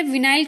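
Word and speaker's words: vinyl: और कहीं कहीं पर इसे विनाइल क्लोराइड भी लिखा रहता है। तो वाइनिल लिखा रहा है, विनाइल लिखा रहा है, वो आपके प्रोनाउंसिएशन पर डिपेंड करता है।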